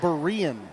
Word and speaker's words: Berean: tonight it's yeah okay I've been told it's Berean Berean Christian yes or